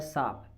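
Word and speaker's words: शाप: कहते हैं मैं तुम्हें श्राप दे दूंगा। अरे श्राप कोई शब्द ही नहीं होता, शब्द होता है साप।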